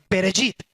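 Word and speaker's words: בראשית: lo menos el nombre de los libros sabemos pronunciarlo, se dice Bereshit. Bereshit significa en el principio, significa origen, significa comienzo.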